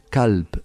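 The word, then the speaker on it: كلب: gutural significa corazón pero si te decimos calp con una K menos cutural mucho más suave calp significa perro con lo cual el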